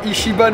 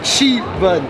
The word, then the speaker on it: Ichiban: pseudo il m'a dit on dit pas Ichiban on dit Ichi bun mais excuse-moi maintenant tu